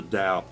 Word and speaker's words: Tao: Anyway, the Tao, or the Tao, you pronounce it Tao, the Tao of Jeet Kune Do.